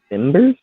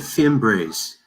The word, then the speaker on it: Fimbres: Louis Plung, Veronica Timbers. Is that how you pronounce that one? She said Fimbres.